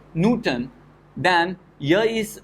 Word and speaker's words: Newton: say we pronounce it Newton so first syllable is stressed so you have to